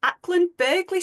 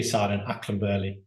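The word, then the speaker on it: Acland Burghley: comprehensive schools mainly and I hope I pronounced this correctly akland berley School in Camden Andrew have I got that right no absolutely not how do you say it uh the G akan Bley oh thank you I knew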